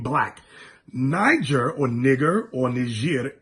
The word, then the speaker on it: Niger: Simeon that was called Niger now energy er is their original pronunciation they